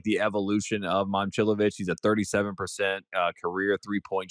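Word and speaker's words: Momčilović: Last year was Momcilovic. And we've now come to figure out that it's Momcilovic.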